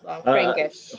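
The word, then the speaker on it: Blaufränkisch: It's Yeah, Blanc Frankish. Frankish. Yeah, Okay. it's so it's a grape from Austria, Okay.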